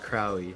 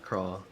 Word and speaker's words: Crowley: By the way, it's pronounced Crowley, not Crawl.